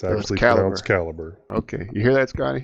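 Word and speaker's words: calibre: It's actually pronounced caliber. I was corrected on this one. I've heard it both ways. I never knew which which way to call it. Calibbre.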